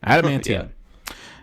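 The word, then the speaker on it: adamantium: going to this is going to be running Adam mantium did I say it right yes Adam mantium how he got the claws and everything U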